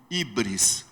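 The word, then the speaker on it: hybris: o nome grego de ibris se escreve H Y B R S ibris O que que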